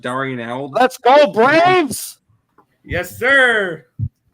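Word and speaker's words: d'Arnaud: I love doing Nick his name is pronounced Darian owl that's gold Braves yes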